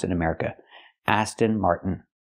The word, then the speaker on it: Aston Martin: we have to say Aston Martin with a t or we have another way to do it we can take the T and make it a stop T Mart stop the Air